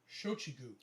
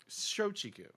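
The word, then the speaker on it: Shochiku: pronounce this right uh shakua i might be pronouncing that wrong but c shochigu shoujiku okay all right in the us it was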